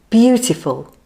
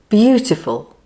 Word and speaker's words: beautiful: It has 3 syllables with the stress on the first syllable. Let's say it like this. Beauty, beauty, beautiful, beautiful.